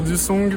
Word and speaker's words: Dusong: Eh ben, je vais dire Dussong parce que c'est écrit qu'un G à la fin.